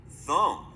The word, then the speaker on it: thumb: They added a silent B. There is a pattern that will help you. Silent B comes after an M.